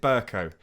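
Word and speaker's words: Bercow: time, I have re-recorded the first part when I say Burko, and I pronounce it Burko.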